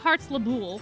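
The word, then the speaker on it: Heartslabyul: Secondly, I am never, ever calling it Heartslable. I'm calling it Heartslable. I'm not calling it Heartslabul, whatever they call it. They say it differently.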